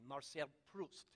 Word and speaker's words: Marcel Proust: new spirit Marcel Proust I have to pronounce it like a Frenchman marceia Proust this is what he